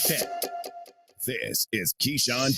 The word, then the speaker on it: Keyshawn: what do you think is that the way you emphasize Keyshawn key Sean it wasn't just like Keisha you know he's a key shot oh he got that Swag Like That this is Keyshawn J Will and Max